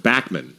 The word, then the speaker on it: Bachman: the most Canadian thing about this is it, in Canada he's pronounced Backman. It is Bachman.